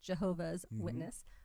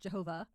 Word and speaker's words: Jehovah's Witness: But this is really great information because I think we've been pronouncing it wrong, including that it's an apostrophe S, Jehovah's Witness, not just Jehovah out there, all the way through.